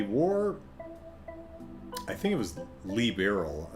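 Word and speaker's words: Liberl: since formally apologized to Liberal, calling the war... I think it was liberal. I think it's a hard E, if I remember how the folks on the train were pronouncing it earlier.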